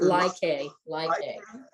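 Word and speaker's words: Lai Khê: And it starts with your landing at Ly Cay, is it pronounced? Ly Cay.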